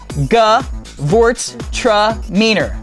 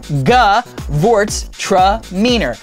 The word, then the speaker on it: Gewurztraminer: so we're throwing it up right now Derek g vort tror g vort tror Gort tramor you say that 10 times and